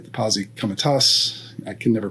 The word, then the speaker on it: Posse Comitatus: The Posse Comitatus, I can never pronounce it properly.